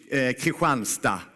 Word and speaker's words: Kristianstad: Very easy in Swedish, Kristianstad.